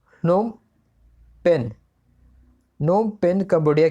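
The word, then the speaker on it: Phnom Penh: इसका प्रोनाउंसिएशन आप जो कर लें, PHNOM, नोम पेन।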